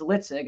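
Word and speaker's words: LITSG: on their own and it's litig I take l-i-t-s-g life is too short guy and created the the concept which I call the principles or the philosophy of litzig very good I can't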